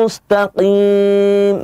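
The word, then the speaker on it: مستقيم: Dan huruf yang terakhir tadi, bedakan antara huruf qaf dengan kaf. Ihdinas siratal mustaqim.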